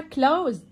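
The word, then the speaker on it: close: والماضي منه يضيف يغلق خلي بالك السي بنطقها بصوت حرف الكاف والاس كانها زد والماضي منها كلوز رب يزيل او يفرك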